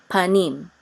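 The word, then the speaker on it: פָּנִים: Together will be pronounced nim. Panim.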